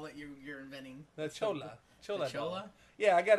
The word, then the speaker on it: chola: our Spanish announce team how do you say it it's Chola Chola okay yeah it's the same way you're saying it right oh I want